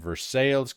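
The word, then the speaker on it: Versailles: Woodford Reserve made in Versales, Kentucky. That's how you say it.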